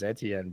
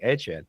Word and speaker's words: Etienne: he said, "Oh, Mike, you know, everybody says Etien, but my family pronounces it HN." So, we started saying Etchen. And people were like, "It's Etienne."